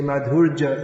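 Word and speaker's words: माधुर्य: Madhurja Lila rather than Madhurya. You have to move your tongue a bit more to say Madhurya. You say Madhurja, it all merge. The R and the J merge.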